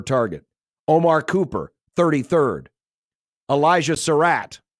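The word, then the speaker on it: Sarratt: Omar Cooper 33rd Elijah Sarat I believe that's how you say it s a r r a t t he's 43rd kesan Williams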